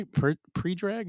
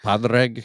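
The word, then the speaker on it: Pádraig: My good is this how Predrag? Is how you pronounce his name? Predrag Harrington? I think so. Is that he looks like Right. that? Padraig.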